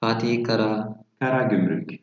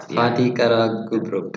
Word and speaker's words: Fatih Karagümrük: Fatih Karagümrük. It's hard. Fatih Karagümrük.